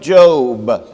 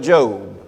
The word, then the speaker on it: Job: to the Book of Job The Book of Job with the B not job but job spelled job pronounced job before we get into